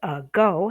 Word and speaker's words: ago: Okay, so like a while ago, the word ago has 2 syllables. The O is long and it is stressed. Okay, but the it's represented by an A, but it's really a schwa sound. The schwa sound is okay, very close to a short U sound.